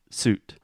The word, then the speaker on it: suit: One you're making round lips, the last one, and the first one you're not.